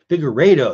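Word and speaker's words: Figueiredo: Figueredo. That's how you say it. Okay. I guess that was close. Figueredo.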